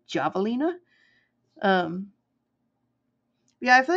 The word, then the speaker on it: javelina: Yeah, if you ever want to look it up, it's javelina. It's said like you say it like an H, but it is spelled with a J, like javelin, like javelina.